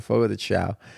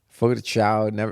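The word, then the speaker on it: Fogo de Chão: I think that's how you pronounce it, Fogo de Chao.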